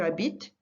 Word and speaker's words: habites: or elle plural, but the only two that you're going to pronounce are the nous and the vous. The rest of them are silent endings. They're pronounced exactly the same. Just notice that the endings are different. We'll come back to that at a later stage, but they're pronounced the same.